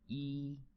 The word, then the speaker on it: 一: our first Chinese character number one yi yi yi okay please follow me II that is the pronunciation of number one what does it look